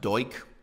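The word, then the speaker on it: Duch: lifetime um you know uh his name is pronounced deutsch okay great so comrade deutsch as he's remembered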